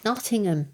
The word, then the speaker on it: Nottingham: there's no such place I keep telling you how to pronounce it Nottingham I thought even the locals dropped the G occasionally no try and be